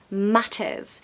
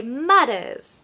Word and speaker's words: matters: about the T sound here we have a Double T so we're definitely going to ramp up that t sound matters matters if I was American I'd say matters and it's more of a D sound d d but no in British we say the T matters now if you want